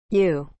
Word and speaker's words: ewe: and benin female sheep u is spelled e w e u